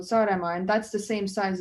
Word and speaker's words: Saaremaa: am from the biggest island, which is called Saaremaa. How do you spell it?